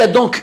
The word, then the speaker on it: Aton: Donc, si l'on se réfère à la prononciation du mot Adonai par les Hébreux séfarades, ce n'est pas d'Aton qu'il s'agit, mais bien d'Adon. Il y a donc une erreur dans la transcription et dans la prononciation du dieu Aton, qui doit se lire et se prononcer Adon.